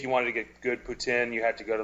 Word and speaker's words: poutine: about Tusk was that Johnny Depp says poutine like an English guy. And French people don't say it like that. They say poutine.